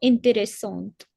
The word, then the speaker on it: intéressante: Les élèves ont trouvé la leçon intéressante. Avec I. Intéressant. Oui. With an E in the end, so the T has to be heard. Intéressante. Correct. Les élèves ont trouvé la leçon intéressante.